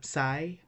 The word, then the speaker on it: psi: Well, we have the psi. Psi is pronounced like ps in the psalm, and our last letter omega, that is pronounced like O in woad, in go.